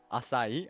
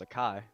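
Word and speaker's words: açaí: pretty good you BOS oh that's how you say it aai I thought it was a Kai let me get an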